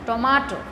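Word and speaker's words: tomato: তারপর দেখো এটা টমেটো না, এই যে এম এ, এই লেটার এম এ, এই লেটার দুটোর উপর আমাদের আরও বেশি জোর দিতে হচ্ছে, বলছে টমেটো।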